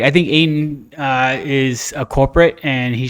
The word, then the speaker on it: Ayton: Does it rhyme with PA? PA? Yeah. No. So it's not DeAndre Ayton? It is Ayton.